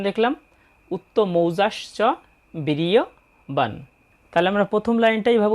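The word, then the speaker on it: বীর্যবান: বীর ইয় বান যেহেতু এখানে হসন্তযুক্ত ন তাই নটার উচ্চারণ হবে অর্ধেক বিরিয়বান আমরা প্রথম লাইনের দ্বিতীয় চরণটার উচ্চারণ দেখলাম উত্তজাসচ বিরিয়বান তাহলে আমরা প্রথম লাইনটা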